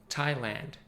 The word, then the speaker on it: Thailand: wasteland Overland Disneyland la-la-land and Thailand as far as I know the only country that has land in the end but actually pronounced with the tandem a sound Thailand I hope now you